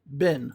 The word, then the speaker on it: been: So it's like bin.